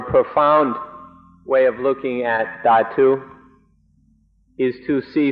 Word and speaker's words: Dhatu: In English, it's usually spelled Dhatu, and so I sometimes say Dhatu. In Thai, it's pronounced Thatu, so that's why I mix these up.